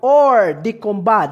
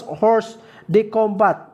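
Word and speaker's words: hors de combat: republic act number 9851 or the combat this is a french term cadets this is a french term this is not pronounced as horse the combat because this is a french term this is pronounced as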